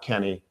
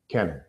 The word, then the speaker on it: Kenan: J creeper yeah dude I'm Kenan not Keenan not Kevin not Kenny Kenan but the first day